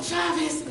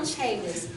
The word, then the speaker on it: Chavis: Um, Colonel Chavis, I've been saying your name wrong the whole time. I always say Colonel Chaveis, but it's Colonel Chavis.